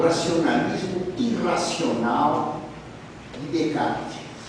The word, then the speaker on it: Descartes: Descartes se pronuncia Descartes, usa Descartes nos S.